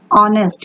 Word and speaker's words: honest: He is an honest. Here H is silent.